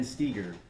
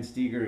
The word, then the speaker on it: Stoeger: here is by Ben Steiger and I know you see his name when you say it's not pronounced Steiger but trust me it is this is another